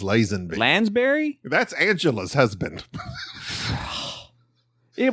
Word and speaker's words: Lazenby: Isn't that like Lazenby? I think it's Lazenby.